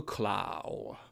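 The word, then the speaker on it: Klaue: number eight we have colonel clau or colonel claw if you want to pronounce it in the anglicized format that he later changed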